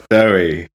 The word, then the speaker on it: Dowie: And it's Dowie and not Dowie. Out. But I feel that's important. I think it's Dowie. Or Dewey as a middle ground, perhaps. Dowie. Pronounced Dowie.